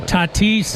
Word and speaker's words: Tatis: Tatis.